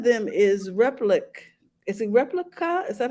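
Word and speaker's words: Replika: Is it Replica? Is that how you Mm-hmm. pronounce it? Replica. Replica.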